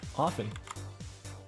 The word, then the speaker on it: often: seriously often that often the the t is not pronounced there's a tea in